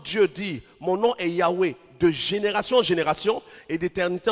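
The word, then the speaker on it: Yahweh: nom est youé et quand on dit on prononce Yahwé ce qui est écrit c'est YH WH mais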